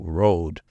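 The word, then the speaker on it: rood: of the rude and rude is spelled rou o d it means cross in Old English it's spelled r o d with a long o Road if you go to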